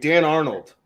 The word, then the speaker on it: Dan Arnold: Oh wait, Dan Arnold. That's the guy. That fucking guy? Oh, yeah. It rhymes with Darnold.